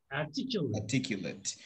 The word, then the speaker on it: articulate: like the last syllable, in the adjective part you say articulate, and then in the verb you just say articulate late.